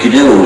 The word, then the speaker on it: GNU: the system for 16 years so it's not new anymore but it still is G so please pronounce it g you must avoid pronouncing it